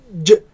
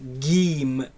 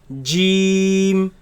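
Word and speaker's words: جيم: Gee Gee Gee Gee some people they loosen this letter and say she Shh and that is incorrect it is solid letter the Mockridge of it completely closes so Jim Jim it is incorrect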